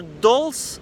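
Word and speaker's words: dulse: tiny piece of fruit uh or dolls I think that's how it's pronounced d-u-l-s-e um I love the taste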